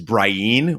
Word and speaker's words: Brienne: sorts of discrepancies there Brienne of Tarth is Brian which is really hard to say we also got some